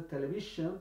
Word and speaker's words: television: Uno lo pone television, pero no es television. Con z, el sonido z.